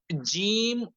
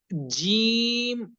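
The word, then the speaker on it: جيم: জিম অক্ষরটি যদি শব্দের প্রথমে বা শুরুতে বা মধ্যখানে বা মাঝখানে থাকে, তাহলে সেক্ষেত্রে তখন জিম অক্ষরটির শুধুমাত্র মাথাটুকু দেখা যায়, বাকি অংশটুকু দেখা যায় না।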